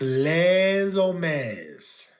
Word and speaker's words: Les Hommes: The H is silent, and the LE is pronounced LA. It's Les Hommes.